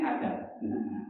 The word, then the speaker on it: adab: Bahasa agamanya adab. Adab. Benten Ibu, cara mengucapkannya harus betul. Kalau adab itu dengan alif, adab. Tapi kalau dibacanya dengan ain, itu pengertiannya paham.